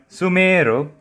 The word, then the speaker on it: Sumeru: After listening to so many people say Sumeru, it's starting to rub off on me too. But Sumeru is the correct pronunciation.